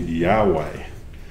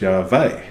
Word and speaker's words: Yahweh: So today we have this word called Yahweh. Y-A-H-W-E-H, right? That's how we use this word to describe God. However, in Hebrew, they don't use a W, so it's Yahweh. They use a V instead.